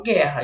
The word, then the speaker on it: guerra: Porque ele só vai ser dígrafo quando esse U não é pronunciado. Por exemplo, na palavra guerra. Eu não falo guerra, eu falo guerra. Então esse U não foi pronunciado.